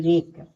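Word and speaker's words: wreck: आई टी E right देखिए डब्ल्यू आर आई सी के रेक डब्ल्यू एच ओ एल E whole T double O टू ये सब हमारा क्या है डब्ल्यू साइलेंट है अब देखिए वाई का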